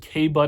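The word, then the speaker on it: Kaybahd: Basically, I run a Canadian clothing company called K-Bud Apparel. It's spelled K-A-Y-B-A-H-D.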